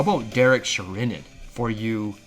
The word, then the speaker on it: Derek Sherinian: everyone got to hear the brand new keyboardist Derek Sheran. Okay, how about Derek Sherinan for you pronunciation nerds?